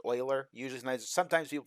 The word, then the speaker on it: Euler: this one particular constant Euler's constant and it's pronounced Euler users know sometimes people pronounce that Euler but it's spelled e u le r was